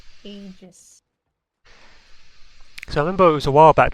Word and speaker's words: Aegis: It is pronounced Aegis.